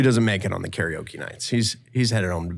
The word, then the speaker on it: karaoke: You know how karaoke is pronounced in Japanese? No, I think I've heard it. Karaoke. Because Funny. it's Japanese. Oh. Karaoke.